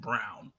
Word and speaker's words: Braun: Is it Brown or Braun? It's spelled Brown. Christian Brown. Christian Brown. It's spelled It's pronounced Brown.